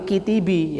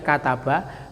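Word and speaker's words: كتب: menulis enggak boleh minilis katab enggak boleh kitibi ya paham ya nah maka orang bisa membaca kitab itu ada banyak kemungkinan pertama dia juga karena dia sering mendengar tahu ini cara bacanya kataba kedua tahu kosakatanya gitu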